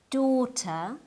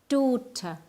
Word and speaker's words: daughter: write them the word daughter is pronounced with a long o at the beginning like do the GH is silent the T is an English T and the r is silent too D daughter keep practicing this word